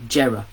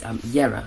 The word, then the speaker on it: Jera: It looks like Jera, but it's Yera, and it means year.